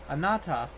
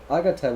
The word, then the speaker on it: Agata: Anata. That's definitely not his name. Agata would be his name. Oh, it's Agata. I've been calling him Anata for like.